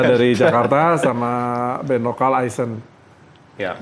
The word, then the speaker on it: Eisen: Amerta dari Jakarta sama band lokal Eisen. Ya. Bacanya Eisen atau Eisen? Atau Eisen. Eisen. Eisen Sama aja, kayaknya. Mas. Seperti Eisenhower gitu kali ya.